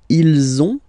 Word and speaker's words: ils ont: And then you will have to make the little link between the two. Ils ont, ils ont, ils ont.